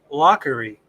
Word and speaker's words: Laughery: at home can see that is pronounced lockery yeah okay so it's